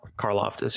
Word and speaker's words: Karlaftis: Karlaftis, yeah.